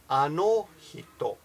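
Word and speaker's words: あの人: when you're pronouncing Japanese, if you speak Spanish, it's basically the same pronunciation. Spanish is the same with the vowels. Sorry, that was Skype. So again, how do you pronounce that word? Anohito.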